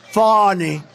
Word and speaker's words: Fani: It's spelled Fanny like your ass, right, Fanny? But when she became DA, she decided to add a little French, a little fancy. Fani.